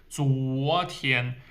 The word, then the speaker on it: 昨: 左 is the Z sound. 左 like zip. 昨天 and 前天.